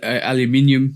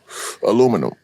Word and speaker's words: aluminium: Yeah, but let's go through some pronunciations. I always say aluminium. You say what? Aluminum.